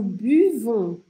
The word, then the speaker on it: buvons: Nous buvons, nous buvons. Tem que fazer esse biquinho aqui, ó. Buvons. Pensa que os franceses bebem de uma forma bem elegante. Um golinho bem pequenininho. Buvons, nous buvons.